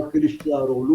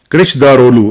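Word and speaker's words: Kılıçdaroğlu: वो नाम क्योंकि वो है, इंग्लिश में हमसे वो उस तरह प्रोनाउंस नहीं होता ना। हाँ, वो सी के नीचे एक्चुअली नुक्ता होता है, तो जिसकी वजह से प्रॉब्लम पड़ जाती है, हाँ, इसलिए मैं कमाल कृष्णदारोलू।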